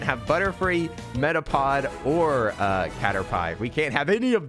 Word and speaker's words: Caterpie: much for the follow-up caterpie is pronounced like pie made of catters how scary narnabel don't